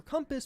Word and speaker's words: compass: he said compass compass do you guys say it like that or do you say compass because it is technically an O it's not cu and like it's it's co my history teacher in